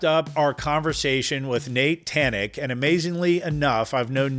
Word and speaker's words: Thanig: So Thanig. Yeah. Right? Yeah. So the G sounds like a K.